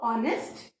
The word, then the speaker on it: honest: Then the 28th word is honest, and remember, when you pronounce this word, H is silent. So, honest, the comparative degree is more honest, and the superlative degree is most honest.